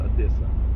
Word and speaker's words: Одесса: Но мы будем произносить его сегодня, я, во всяком случае, как Одесса. Хотя сидящий рядом со мной араб Бурин говорил, что коренные одесситы как раз произносят Одесса.